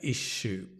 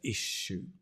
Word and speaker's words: issue: pronounce it differently um this is the way I would pronounce it is with a sh like shop she shop sh an issue that's how as a British person we would pronounce it an issue stress on the I issue okay good for